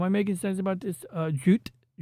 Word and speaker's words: Jute: then Anavel Gato goes, Jute, like with the extra syllables that Japanese people use.